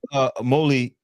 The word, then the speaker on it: Imole: So now coming up, Imole, that's how you pronounce it, right?